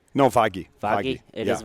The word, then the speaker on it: Vaghi: It's Vaghi. Is there actually a G sound there? Is it Vaghi or is it Vahi? No, Vaghi.